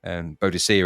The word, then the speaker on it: Boadicea: Boudica, I guess is how you say it nowadays. Boadicea in old language when we were at school.